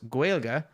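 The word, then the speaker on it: Gaeilge: The Irish language is sometimes referred to as Gaelic, pronounced Gaelga, but it is not Gaelic.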